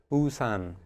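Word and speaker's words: 우산: umbrella no no so how would we say this wordan usan okay so if I hear usan it sounds to me like two syllables and if I look at how it's written in Korean I have two characters right so so our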